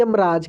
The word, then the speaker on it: यमराज: देखिए, म के बाद अ का उच्चारण इतना तेजी से हो रहा है कि पता ही नहीं लग रहा है, इसलिए वहाँ पे अ का इंग्लिश नहीं लिखा रहा है, यम ही लिखा रहा है।